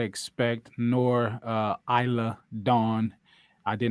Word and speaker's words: Isla: well he said Iceland I say Isla but I guess the S is silent and that's dumb Isla the S is silent stupid they were not really